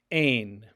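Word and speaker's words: ἦν: She was is ain.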